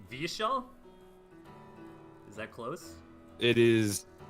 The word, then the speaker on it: Vyeshal: Y in the language it's always pronounced like yeah like like the like the constant like a vowel so so of this